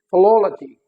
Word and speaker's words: philology: Likewise this is not philology, this is philology, philology, again on the third last, okay।